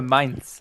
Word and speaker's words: Mainz: EJ Sung, the main talking point, Peter, German pronunciation, please. We'll go for Mainz on that one.